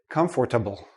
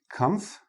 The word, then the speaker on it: comfortable: We say comfortable. And notice the last sound is like a small, tiny little I in there. Comfortable. Comfortable. Okay? We don't pronounce the or.